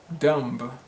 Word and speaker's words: dumb: thinking is it dumb dumb no the b is silent so it's pronounced dumb dumb how about this word